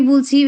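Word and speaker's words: ب: বার উচ্চারণ একদম সহজ। এই বার উচ্চারণ হয় হচ্ছে গিয়ে দুই ঠোঁট থেকে উচ্চারণ হয়।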